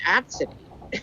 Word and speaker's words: Abcde: a mistake here and she's like nope it's pronounced at city and i'm like okay i really hope this